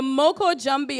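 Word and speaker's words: Moko Jumbie: more about it while the judges deliberate the Moko jumpy and it's spelled m-o-k-o with a space j-u-m-b-i-e and it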